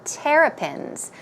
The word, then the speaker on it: terrapins: So he's saying he had pets that lived in water, such as, or like fish, or terrapins. The stress goes on the first syllable.